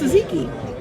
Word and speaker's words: tzatziki: It's tzatziki. It's spelled with a T and a Z.